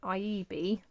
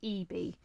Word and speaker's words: Ieebee: Now I believe I would have pronounced it Ieebee, but I believe from watching other videos it's actually pronounced Ieebee.